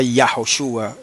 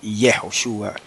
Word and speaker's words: Yahoshúa: Y en el caso de Josué y del Mesías, se pronunciaba Yahoshua y no Yehoshua ni Yeshua.